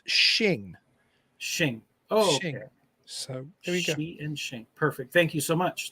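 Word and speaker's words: Xing: thought it was pronounced Zing is actually pronounced shin perfect thank you so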